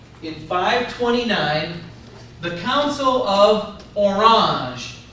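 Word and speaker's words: Orange: 529 the Council of orang spell it like the fruit and you'll get it right the Council of orang or the color um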